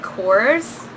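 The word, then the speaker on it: Korres: She got me this um I think it's I think you pronounce it Kors.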